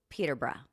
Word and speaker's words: Peterborough: Well, I'm going to say Peterborough.